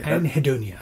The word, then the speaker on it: Anhedonia: Anhedonia. That's how you say it. I'm probably mispronouncing it.